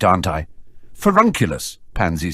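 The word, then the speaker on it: Furnunculus: it right aren't I forunculus pansy said sounding it out phonetically finunculus you're adding an extra in millison said frowning as she listened to him furun not fur none Daphne giggled fernan sounds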